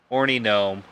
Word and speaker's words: Hornee: It is HorneGnome Horny Gnome bar, but it's spelled Hornee.